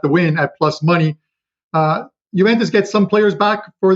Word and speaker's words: Juventus: Malmo and Juventus, right? Am I even pronouncing that right? Yeah, no, Juventus. The J is silent. Juventus.